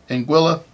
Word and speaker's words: Anguilla: finally looked up how to say it guys Anguilla 1981 booklet um this booklet is number 444